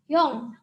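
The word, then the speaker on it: 영: Ini dibaca yong. Karena konsonan ing ini kalau berada di akhir suku kata atau sebagai bacim, itu bacanya adalah eng. Maka suku kata ini dibaca yong.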